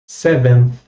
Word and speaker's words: seventh: Seventh. A gente quase não fala esse TH no final, beleza? É bem suave.